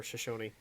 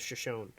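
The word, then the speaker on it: Shoshone: here, it talked about the Shashon or Shosonyi. Shosony. I when you read it too fast, you read it as Shashon. Or you could just think about it and read it the right way.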